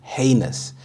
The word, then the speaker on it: heinous: was unacceptable heinous heinous the stress is on the first syllable heinous this means extremely Wicked